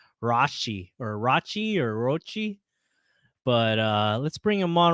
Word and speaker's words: Rocci: I'm going to say Don Rocci because, he told everybody to pronounce his last name is Rossi, but I don't know, man. The way how it's spelled, I'm just like, I think it's Rocci.